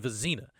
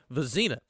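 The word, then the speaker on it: Vizzina: Okay, he said Vizina. I could hear it, not you. He said it right in my ear. Vizina. So Christopher Vizina appears to be the leader right now. But, yeah, Visine. It's an I situation.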